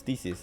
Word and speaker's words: Theseus: Because I remember I said it wrong. And he's like, no, it's Theseus.